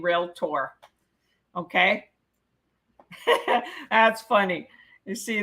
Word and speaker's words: Realtor: so anyway you're gonna learn from me it's real tour all right number 40. i saw a guy jokingly say the second a is silent oh really he must have been joking because there's no a in real tour okay that's funny you